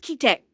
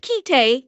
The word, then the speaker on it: Kite: Chat, how many of you have seen the anime I think it's pronounced kite? Have any of you have any of you seen that anime? It's pronounced kite.